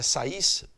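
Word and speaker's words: Saïs: E com todos os sinais de respeito por esses sacerdotes na cidade de Sais, que se escreve Sais, tá? Mas é Sais, que serviam no templo da deusa Ísis, tá?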